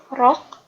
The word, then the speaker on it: rock: Yang aliran keras itu rock, ditulisnya ROCK, tapi dibacanya rock.